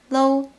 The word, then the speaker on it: 嘍: Okay, the last one for today is 啰 or low. 要走哦。 Lo or lo can be used to replace the modal particle le, adding a cheerful and relaxed tone. They are the same as le plus o.